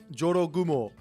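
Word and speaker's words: 絡新婦: You gotta get the j in there. Jorogumo.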